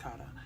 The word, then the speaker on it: Kara: Kara, same difference, it's pronounced Kara.